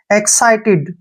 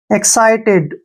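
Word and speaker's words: excited: सी आई टीई डी इसको हम पढ़ते हैं एक्साइटेड ठीक है ना एक्स साइटेड ऐसे एक्साइटेड यहां पर भी क्या है एक ही बात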